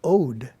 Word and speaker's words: od: odik is the adjective form of ode pronounced like mode defined in the oxford